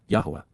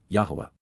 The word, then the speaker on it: Yahowah: reveals naam announces in advance of it occurring Yahwa Yahwa God's personal name pronounced as guided by his Torah instructions on